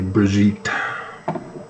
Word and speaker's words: Brigit: St brii but that's French so it have to be brigit pronounce the T so I don't know